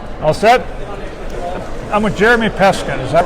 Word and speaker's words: Jeremy Peskin: I'm with Jeremy Peskin. Is that right? If I pronounced Yes, that right?